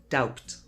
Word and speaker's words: doubt: A really common mistake is saying doubt. It's just doubt.